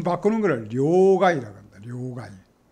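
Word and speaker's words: 両替: 혼다나 이런 것도 하고 그 다음에 이 돈 바꾸는 거를 료가이라고 합니다. 료가이 료가에 료가에 이런 것도 우리가 료가에 이렇게 합니다.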